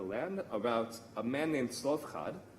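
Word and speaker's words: Zelophehad: a man named slovkad which is a very difficult name to pronounce especially if you're reading the english like bible version of how they i think they write zelo pahad or something like that of him it's weird but slovkad is how you say his name and he has five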